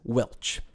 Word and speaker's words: welsh: This usage is sometimes pronounced as Welch.